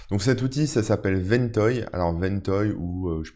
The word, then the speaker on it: Ventoy: Donc cet outil, ça s'appelle Ventoy. Alors Ventoy, ou je sais pas, peut-être si vous le prononcez à la française, c'est Ventoy, mais ça s'écrit V-E-N-T-O-Y